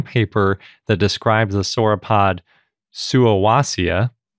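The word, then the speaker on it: Suuwassea: that described the sorod suaia or suia I think is the correct way to pronounce it because they actually gave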